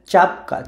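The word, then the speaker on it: czapka: শব্দের উচ্চারণ হচ্ছে চাপকা চাপকা, সো অনেকটা চর মতোই শোনা যায় চাপকা চি চাপকা, চাপকা মানে হচ্ছে টুপি।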